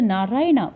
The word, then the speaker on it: Narayana: So, Narayana, pronounced as Narayan, is the name of